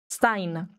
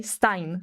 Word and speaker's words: Stein: E I in German is pronounced I Stein. Okay, Stein say like that.